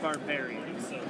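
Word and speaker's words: Barbiere: with me a very special guest mr frank barboury did i pronounce it correctly frank very close it's frank barbarian frank barberry i can edit that out or you said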